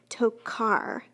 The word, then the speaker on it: tocar: Tokar, car, sounds like a K. That's a hard C sound.